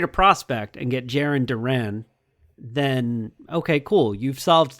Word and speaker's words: Duran: that the Red Sox have named Jiren Duran Durant. Jiren Durant.